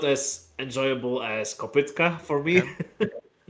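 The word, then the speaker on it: kopytka: It's pronounced Kopitka and yeah, I would say still Kopitka.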